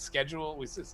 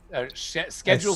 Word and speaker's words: schedule: case Americans tend it's Americans give it a hard K whereas British give it a sh and here you'll find